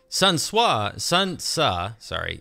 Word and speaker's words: Sun Ce: I mean, Sun Tsa, I was corrected on my pronunciation, so I'm going to now try to switch over to Sun Tsa.